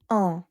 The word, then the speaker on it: un: One in French is uh notice the sound of N is nasal. Your tongue is not touching the pallet. When you say, it is coming from the nose. Normally in English when you have U and N word, you will say an un an. When you say an, your tongue is touching your pallet. But in French, you keep the Nasal.